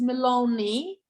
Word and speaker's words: Maloney: get it for learning with that e will be cut malone with the i will be pronounced maloney um let's see